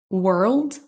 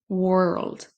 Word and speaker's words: world: On a ensuite le mot world. world qui va se prononcer exactement de la même façon que les deux premiers, même si c'est un O.